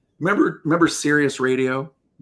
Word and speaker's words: Sirius: of like remember remember Sirius radio? Cirrus, that's how you say it.